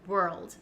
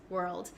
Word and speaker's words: world: you could do is break down the word and say were first and then to get the L Sound were old maybe you can add an almost like an a sound like saying the word all all were old world world and try to get